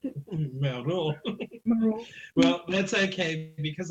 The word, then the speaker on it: Moreau: Moreau. I think you pronounced it. Moreau.